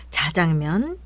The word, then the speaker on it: 자장면: 메모했다가 알려 드리는 겁니다 함께 보시겠습니다 자장면 주꾸미 거꾸로 빈밥 관건 일손이 달리다 비뚤어지다 사건 사고 초간단 요리 미적 감각 세련 불법 주차 율법 헌법 이제 된소리로 해보겠습니다 짜장면 쭈꾸미 거꾸로 김밥